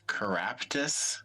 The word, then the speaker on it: Keraptis: The wizard that we learned about last time, his name was Caraptus. Is that the correct spelling? I don't know how you spelled it, but pronunciation, yes.